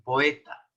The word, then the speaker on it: poeta: pronuncia como él pero en esta palabra poeta aparece una diálisis en la o lo cual indica que rompe esa regla de pronunciación es una de las pocas palabras que se pronuncia de ese modo poeta y la mujer o